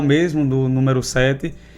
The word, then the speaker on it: SE7: A gente escuta muito aí, muita galera falando eh C7, S7 e vários outros nomes, mas é simples, certo? O CT da gente se chama Sete Sete volo de praia, sete do numeral mesmo, do número sete e sete de primeiro